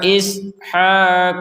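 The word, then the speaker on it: إسحاق: pantulan sama sekali untuk Q Q akan dipantulkan kalau bertanda sukun atau dibaca dengan sukun baik kita ulangi dari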